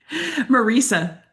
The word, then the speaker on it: Marisa: Oh, that's not how you say my name. Oh, how would you like to say your name? Marisa. Marisa, Marisa. Oh, that's better. It's way better. Oh yeah, it rhymes.